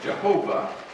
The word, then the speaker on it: Yahweh: sure how it's pronounced most scholars believe it's da way some pronounce it as Jehovah but for our sake